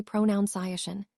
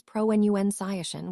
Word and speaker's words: pronunciation: Because of the verb pronounce. Our brains assume the noun follows the same pattern. But it doesn't. The correct form is pro-enu scishin with a soft u.